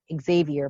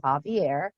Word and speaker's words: Xavier: was written by dr javier amador i know it says xavier but he pronounces his javier and he um had